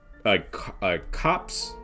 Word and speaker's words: copse: group of 8 figures huddled close to the copse, because you don't pronounce the R in that word, a copse of trees.